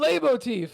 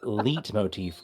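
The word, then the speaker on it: leitmotif: Leit motif. Oh, lay motif. Yeah. Yeah. Okay. Okay. And I said lit motif cuz I was just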